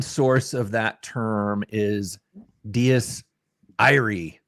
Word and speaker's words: Dies Irae: And in the Latin source of that term is Diés Irae, right? Or Irae. Diés Iraé. And guess what? They made a movie with that title. So we wanted to pronounce it correctly, which I think we have.